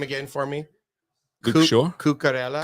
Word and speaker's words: Cucurella: It's always under his feet, Pronounce wasn't his it? name again for me. Luke Shaw. Cucurella. Cucurella. Cucurella. Gracias. I think it's the L's are a yeah. Cucurella.